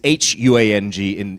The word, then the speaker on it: Huang: So it's really Huang is what W-O-N-G is. But Wang and W-A-N-G and W-O-N-G are pronounced the same. So that's why I try to pronounce it the way that you would pronounce it in China.